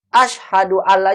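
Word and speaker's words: أشهد أن لا: asyhadu alla ilaha illallah asyhadu alla nya enggak digabung enggak jadi matulis asyhadualla salah ini kalau digabung begini dia dipisah begini Asyhadu an-laa bukan digabung tapi kalau dibacanya digabung asyhadualla tapi penulisannya tidak digabung Kenapa karena and yang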